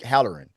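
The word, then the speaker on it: Hallorann: to yeah, what's his name's wife in the black spot, and Dick, was it Dick Haller? How do you say that? Dick Halloran, Yeah, yeah, played by my boy Chris Chalk.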